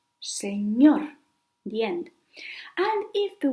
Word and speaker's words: señor: If the word ends in any other consonant except S and N, then the stress goes in the last syllable, like señor, señor, the end.